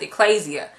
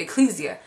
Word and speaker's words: ekklesia: I think it's pronounced ekklesia, but I used to pronounce it ecclesia. I believe it's pronounced ekklesia. And I used to always